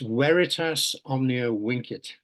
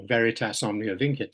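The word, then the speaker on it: Veritas omnia vincit: my University's motto is I was taught when I did Latin at school to pronounce V's as W's so it's weitas Omnia winit or Veritas omn init which means truth conquers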